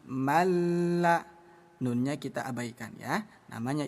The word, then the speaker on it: من لا: Jangan dibaca manla, tapi malla.